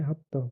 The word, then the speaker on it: हप्त: तो संस्कृत में सप्त यानी कि सेवन जो कि होता था वो संस्कृत में सप्त बोलते थे उसको और पर्शियन में उसे हप्त।